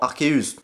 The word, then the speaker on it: Arceus: Et du coup, pour conclure, bah au final, la vraie prononciation du dieu des Pokémon serait théoriquement Arceus. Et au final, bah cette prononciation est confirmée par la VF du film Pokémon.